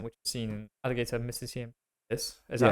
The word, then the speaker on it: Alligator mississippiensis: Whereas if you use the 2%, which is seen in alligator Mississippiensis, is that how you say it? Alligator Mississippiensis.